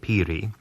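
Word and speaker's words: piri: our terms uh in the United States Peri is spelled p i r i Peri and it is an alos a double read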